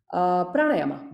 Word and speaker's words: pranayama: So pranayama. Yeah, that is the correct matra kala pronunciation. It's not pranayam. That would means prana is 1 matra. Pranayam, if you say that, right? It is prana because the word is prana there. Pranasya ayama is pranayama, right? So pranayama, it's 2 matra.